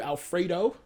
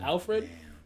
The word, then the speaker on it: Alfred: I've just been like I've been calling you Alfredo instead of Alfred D um it's all right